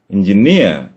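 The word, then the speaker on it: engineer: ഒരു ഉദാഹരണം പറഞ്ഞാൽ എഞ്ചിനീയർ എന്നുള്ള വാക്ക് നോക്കാം. എഞ്ചിനീയർ ഇസ് A noun. എഞ്ചിനീയർ എന്നാണ് എന്റെ ഉച്ചാരണം. കരിയർ, അങ്ങനെയുണ്ട്.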